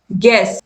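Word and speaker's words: guess: तो build, build, guilt, गाइड, गेस, इन सभी में जो यू है वो क्या है? साइलेंट है।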